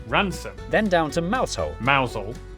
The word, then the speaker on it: Rampisham: Starting in Biaulio, Beaulieu, head over to Rampisham, Ransom, then down to Mousehole.